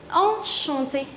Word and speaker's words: enchanté: The pronunciation of both of them is same. Okay. There is only the difference in how you write.